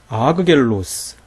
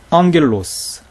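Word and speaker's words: ἄγγελος: 자 어떻게 발음 할까요 아그 겔로스 아그 귀라 에그 크리오 살비 그 크스 이렇게 발음 할까요 그렇지 않다는 거예요 앙겔로스 앙쿠라 크리오 살 핑크스 이렇게 발음했다 거예요 왜 그럴까요 조금 전에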